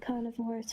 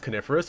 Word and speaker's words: coniferous: good we don't want any snakes around here carnivorus Forest it's it's pronounced coniferous but carnivorous Forest is also really good carnivorous